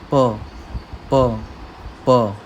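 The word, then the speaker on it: ㅂ: अब यहाँ पर भी प और ब, इन दोनों के बीच की साउंड है, प प प।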